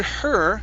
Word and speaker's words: her: Burned Burnt Burned Now with the word her you're using a hard R at the end saying her Okay so instead of he hair it's okay You're you need to force your tongue down and curve your tongue up Her her her Good